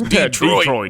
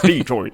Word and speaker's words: Detroit: americanized it's like no we pronounce our letters it's detroit it's detroit like the depot and